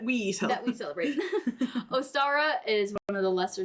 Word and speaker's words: Ostara: The name Ostara originates from an ancient Germanic goddess, which I think it's pronounced like Easter.